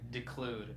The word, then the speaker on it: declude: Pronounce the De. It's declude, not I wish I declude.